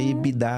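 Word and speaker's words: EBITDA: gente chama isso de se escreve ebtida mas a gente O correto é ebid se fala ebid falar ebit você não vai passar vergonha não tudo todos são são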